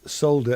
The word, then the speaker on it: solder: get it yeah yeah still have a problem with solder and soda yeah there's no l in our pronunciation of that word yeah has been dispensed